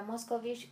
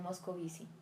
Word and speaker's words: Moscovici: Tenía mucho sueño y no fui capaz de decirle que mi apellido no era Moscovich, sino Moscovici.